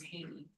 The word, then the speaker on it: Haney: All right, I'd like to welcome up, I believe it says Haney. If I'm wrong, I apologize. Welcome. Good evening, you got it right.